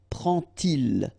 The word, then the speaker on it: prend-il: And so this little D here is in red just to show you that you won't pronounce it like D to make the liaison, but you will pronounce it like T.